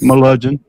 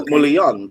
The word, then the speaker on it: Melungeon: Melungeon. I'll say Mulian the whole time, like the Italian. Mulian. Oh, no. Like what he said. The hillbilly way is Melungeon.